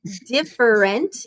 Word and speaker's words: different: Try saying different. It's 3 syllables.